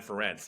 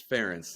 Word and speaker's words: Ferentz: Yeah, I'm excited to see Manny Diaz versus Brian Ferentz. I don't know about you. That should be pretty good. See, you're mispronouncing again. It's Ferentz, and you're doing this. You're doing this on purpose.